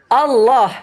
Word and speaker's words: Allah: Allah. O kan bukan A kan. Allah. Anda enggak bacanya A. O.